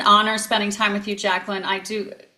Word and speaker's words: Jacqueline: I typically people call me Jackie, but I would say I typically pronounce my name Jacqueline. Yeah, I prefer it, but it's nice to pronounce the Q. Qua, Jacqueline, Jacqueline.